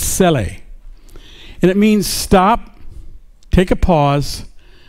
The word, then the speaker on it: Selah: It'll say, well, most people pronounce it Selah, but it's Sele.